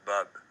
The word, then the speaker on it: Bob: Yeah, they pronounce it sort of, it's not Bob, it's Bub.